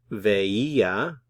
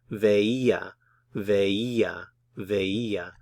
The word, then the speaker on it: veía: The verb ver, veía. These are actually 3 different syllables here. So we have ve, I, and then a. So the E is accented. Veía, veía, veía.